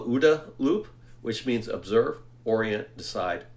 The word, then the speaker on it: OODA loop: are in this decision cycle described as, it's pronounced, I've heard OODA loop or OODA loop. I call it OODA loop, which means observe, orient, decide, act.